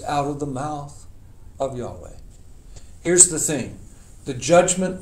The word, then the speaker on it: Yahweh: How do you pronounce Yahweh in Hebrew? The Jews today call it the unpronounceable name. I've tried to tell you it is Yahweh. Yahweh. Let everything that hath breath, it's the sound of breath, praise Yahweh.